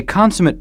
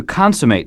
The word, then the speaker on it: consummate: complete or Supreme a consumate Pianist is an extremely good one nothing is lacking from the way he or she plays consumate is also a verb notice the different pronunciation to consummate something is to finish it